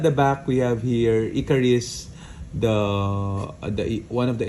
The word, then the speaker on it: Ikaris: So I I always mispronounce it as Icarus because there's a a great story about Icarus being uh attracted or getting too close to the sun.